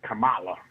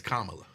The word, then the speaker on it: Kamala: make it easy with Camala all right well and people want me to correct you it is Kamala Oh Come Out say that Kamala man can can you